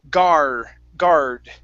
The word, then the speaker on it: guard: uh guard Now here uh if you don't pronounce the r it sounds like guard like an a sound God So it's guard Guard Guard Guard One more time Guard Guard Mhm